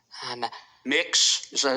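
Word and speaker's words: Mx.: It's pronounced mix. Um, mix.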